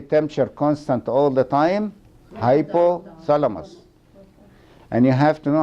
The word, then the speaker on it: hypothalamus: keep the body temperature constant all the time hypothalamus and you have to know how to pronunciate it some people say hypo like funny